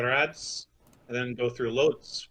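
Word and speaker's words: Łódź: and then go through loads we could be able to pronounce by the way i did some research on it uh like floosh yeah like a w yeah oh cool that's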